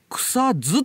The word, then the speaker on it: 草津: にありますねあれと同じ発音みんなしちゃうんだよよそ者は地元では見なくさず草ズって言ってんだけど